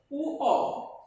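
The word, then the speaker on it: ঙ: প্রথমে যে বর্ণটি লিখেছি এই বর্ণটি হচ্ছে উ অ, এটার উচ্চারণ উ অ, অনেকে উমো উচ্চারণ করি, উমো ভুল উচ্চারণ।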